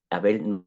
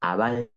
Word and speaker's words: Abel: en asociación a Abel que Abel no se pronuncia así en hebreo sino que sea abal entonces eh tubal kayim